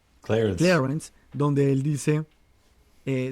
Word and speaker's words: Clarence: Ahí está claramente nuestro magistrado de la Corte Suprema de Justicia, Thomas Clearence, creo que se pronuncia. Clarence.